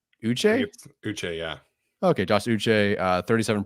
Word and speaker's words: Uche: Uche, yeah.